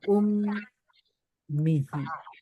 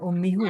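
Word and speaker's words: أمّه: Kalau sebelumnya kasroh, maka dibaca hi. Maka kita baca ummihi. Bukan ummihu ya, tapi ummihi.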